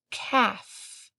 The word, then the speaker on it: calf: K at the beginning calf has a silent L towards the end rhino has a silent